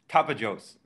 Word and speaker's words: Tapajós: I'm going to say it wrong, I'm sorry, Tapajós? I'm going to say it wrong too. Cecile, well, how do you pronounce that river? Tapajós.